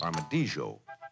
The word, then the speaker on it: armadillo: For instance, this odd-shaped basket of oh uh this happens to be the dosipot or armadillo. Sometimes pronounced Armadjo, but affectionately nicknamed Tatu.